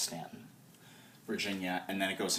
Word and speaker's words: Staunton: and now it stops in Staunton spelled ston pronounced Staunton Virginia and then it goes into West Virginia